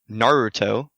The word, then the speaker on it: Naruto: I don't remember who it was but it's Naruto that's how you say it correctly you know